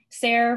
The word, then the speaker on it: Sarah: Sarah rhymes with stare or there.